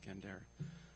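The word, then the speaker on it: gendèr: quartet called gendere Wan spelled like gender but pronounced gendere uh that are playing the same interlocking uh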